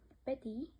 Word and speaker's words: petit: For example, souris, né, veau, petit, grand. In these words, we don't pronounce last letter.